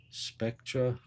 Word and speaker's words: Spectra: again Odyssey it's called Spectre how do you spell that it says Odyssey rainbow Edition Spectra oh yeah Spectra spect R A this is